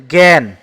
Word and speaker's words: জ্ঞান: কারণ এখানে আ উচ্চারণ হবে না। এখানে এ উচ্চারণ হবে। এটা উচ্চারণ হচ্ছে জ্ঞান।